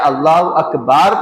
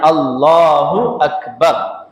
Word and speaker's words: اللہ اکبر: کو دراز پڑھا جائے اور اللہ یا اکبار یا اکبر پڑھا جائے یا اللہ اکبار پڑھا جائے تو اس کی تکبیر تحریمہ درست نہیں ہوگی۔ جو بولنا ہے اللہ اکبر، یہ صحیح اس کا تلفظ ہے، صحیح اس کا پروننسیشن ہے۔ اللہ اکبر آدھا جملہ